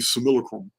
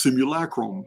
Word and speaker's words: simulacrum: it's a reason why I call this the similacrum and for those of you don't know yes I am mispronouncing it I will continue to do so